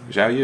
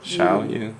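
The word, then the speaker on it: Xiaoyu: Zhao Yu, is that I how you want to say say that? it's Xiao. Xiao Yu, yeah.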